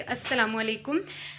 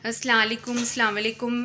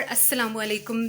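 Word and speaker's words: السلام عليكم: में बता दूं कि अस्सलामुअलैकुम ठीक तरह से प्रोनाउंसिएशन इसकी होनी चाहिए, वरना अस्सलाम वालेकुम इसके जो मीनिंग्स हैं ना वो बदल जाते हैं। तो इसलिए जो है ठीक तरह से प्रॉपर अस्सलामुअलैकुम जो है वो किया करें।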